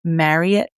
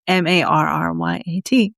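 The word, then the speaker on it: Frederick Marryat: And then the following year, in 1836, there was a man named Captain Frederick Marriott, but it's not spelled like the Marriott hotels. It's Marryat, if you were wondering.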